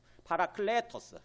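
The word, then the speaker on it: παράκλητος: 파라클레토스, 클레 애가 좀 긴 발음이에요.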